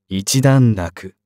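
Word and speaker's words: 一段落: していた人段落は正しくは 1 段落と読む運動中にガム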